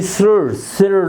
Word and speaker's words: sire: SIRE, सिर, like this की pronunciation बनेगी।